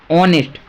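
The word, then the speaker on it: honest: ऑनेस्ट जब भी ऑनेस्ट की बात होती है तो ऑनेस्ट के लिए हम एच तो साइलेंट हो जाता है।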